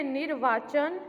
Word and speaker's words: निर्वाचन: उच्चारण करेंगे निर्वाचन। र का उच्चारण जहाँ र लगता है उससे पहले होता है निर्वाचन।